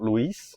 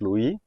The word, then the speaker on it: Louis: No, because because in French you never say the last letter. So it's not Louise. It's Louie.